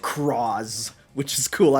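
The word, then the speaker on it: Cross-Z: Oh yeah, Cross Z Dragon is pronounced Croz, which is cool.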